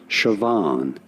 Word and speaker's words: Siobhan: How do you go about pronouncing it? Siobhan. You do want to... Okay, Siobhan. That's what a YouTube video is telling me. It's Siobhan.